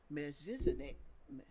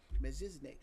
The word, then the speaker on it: Melchizedek: Melchizedek. No, I always say his name wrong. Melchizedek.